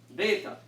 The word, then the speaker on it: Beta: Beta. It is, even though it might you see differently on your notes, this letter should always be pronounced as only a B.